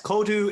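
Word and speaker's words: Códú: Well, that aside, work-wise, you are the founder of, and I hope I pronounced this right, Kodu. Yes, Kodu, it's Irish for coding.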